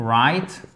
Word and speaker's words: write: sorry, WR, comme to write, you do please, you never, you do not, you may not pronounce the W. Never ever.